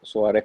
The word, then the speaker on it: Suárez: Facebook, por mi nombre, Suárez, Suárez con acento en la A.